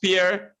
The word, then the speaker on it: Per: It is pronounced Pierre, but it's spelled P-E-R.